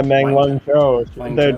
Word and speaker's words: Meng Wanzhou: Yeah, Meng Wanzhou.